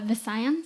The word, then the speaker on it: Visayans: Visayans, I think. Or the closest one that I know is Visaya, so I'm basing it off that. So I'm going to say Visayans. Yeah, it's so a region